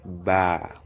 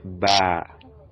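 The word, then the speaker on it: باء: is pronounced to be ba this is called ba ba as in baby so the b sound baby ba ba baby ba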